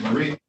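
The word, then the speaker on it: Miree: spell it I mean how you pronounce it Murray yes yes all right Miss Murray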